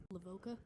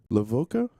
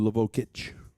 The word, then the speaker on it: Lavocah: Can you pronounce his last name properly? Lavoca. Lavoca. Yeah. All right. I was going to go with Lavok, but Lavoka works for me.